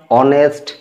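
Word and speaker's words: honest: উচ্চারণ করছি তখন এই এইচ লেটারটি সাইলেন্ট থাকছে বা আমরা এই এইচ লেটারটিকে উচ্চারণ করছি না তাইতো তাই আমরা এদের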